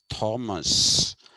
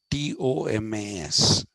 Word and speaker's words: Thomas: Now, please don't, we in India say Thomas, and this is called Thomism. But the actual pronunciation of that name is Thomas. It's Tomas. That's how they would pronounce it.